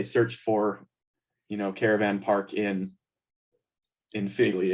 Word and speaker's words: Filey: And so this isn't like they searched for, caravan park in Feely. It's, or I don't know how to pronounce that. Feely. But You got it, Filey, yeah.